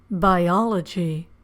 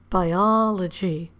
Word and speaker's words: biology: Biology registration. Where do you hear the stress in those words? You have to listen carefully. Geography, biology, registration. The answer is the syllable before the suffix is stressed. biology, geography, registration.